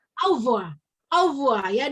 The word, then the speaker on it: au revoir: Terus kalau selamat tinggal tuh lihat, kalau selamat tinggal kan tulisannya au ya. Tapi dibacanya cuma au revoir.